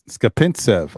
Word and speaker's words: Skapintsev: Skapintsev.